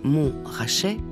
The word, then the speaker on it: Montrachet: et de Chassagne Montrachet l'appellation mon rachait prononcée mon rachet compte moins de 8